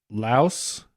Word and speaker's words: Laos: So How is Laos not 2 syllables? Laos are, well, and some things said that some people pronounce it Lao, which is, I guess, that's still true.